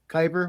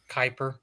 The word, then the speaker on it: kyber: I say it wrong Bobby Billy Bob crystals kyber what was I saying Kuiper oh it's kyber yeah yeah but he said